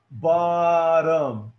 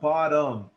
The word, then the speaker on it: bottom: So, la palabra se va a pronunciar bottom. So, el schwa en la primera palabra está en las dos O's. En las dos O's tiene el schwa. Bottom. Porque no es bottom.